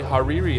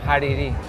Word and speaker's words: Hariri: I've got with me a good friend, Hadi Hariri. How you doing, buddy? Did I say it right? No, but... How do you say your last name? Hariri.